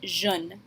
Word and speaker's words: je ne: It will always be written this way, but you can kind of combine the je and the ne a little bit when you say it and pronounce it jeune.